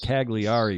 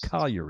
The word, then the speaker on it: Cagliari: cargo to calgary it's it looks like Cagliari init at in english but in in Italian it's Collier a CAG Li a RI and then after that